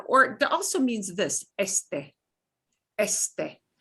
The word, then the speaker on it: este: The next is a word for east, the direction, or it also means this, este. Este. You pronounce both E's.